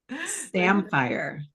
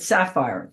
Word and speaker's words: Samphire: Samphire. Oh, I said, oh my goodness, I said it wrong again. I said sapphire.